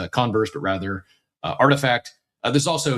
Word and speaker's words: RTFKT: The company last month quietly sold Artifact, pronounced Artifact.